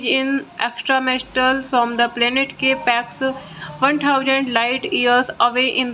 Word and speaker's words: K-PAX: After claiming he is in extraterrestrial from the planet Capax, 1000 light years away in the Lyra constellation, thought not capitalized and pronounced with a long O rhyming with bot, is committed to the Psychiatric Institute of Manhattan.